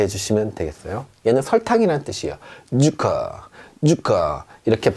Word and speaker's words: Zucker: 자 어떻게 발음하냐면 쌍지읒 발음이 납니다. 우리말로 약간 세게 쯔 소리가 난다. 그래서요, 소금이란 뜻이죠. Salt, salt 이렇게 해주시면 되겠어요. 얘는 설탕이란 뜻이에요. Zucker, Zucker 이렇게 발음합니다.